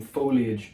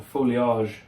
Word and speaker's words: foliage: And now what we may do of course is take some some foliage or folage depending on if you pronounce it like a pretentious Nibble around the edges so that it's nice and circular.